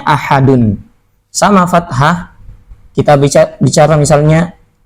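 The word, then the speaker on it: أَحَدٌ: Tapi kalau dhammahnya dikasih lagi, bacanya ahadun.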